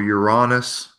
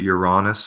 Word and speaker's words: Uranus: told you're Uranus or you're honest I prefer to pronounce it you're honest so it doesn't sound like my anus yes yeah that's just